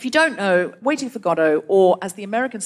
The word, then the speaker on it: Godot: don't know waiting for godot or as the americans say waiting for godot why do they say that though why is that how it's said in french what do you say